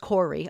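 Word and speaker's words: Koire: But in the case of Rosa Kohr, pronounced Corey.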